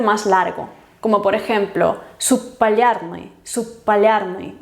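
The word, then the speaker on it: субполярный: Normalmente se pronuncia como un sonido más largo, como por ejemplo subpalярный, subpalярный, o sea, subpolar, pues subpalярный, como una P larga, subpalярный.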